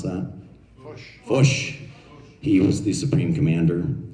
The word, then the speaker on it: Foch: So the French general, Foch, how would we pronounce that? Foch.